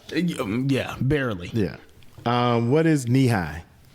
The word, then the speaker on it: Nehi: No, knee high is NEHI. It's a fruit flavored drink. By the way, it's pronounced knee high.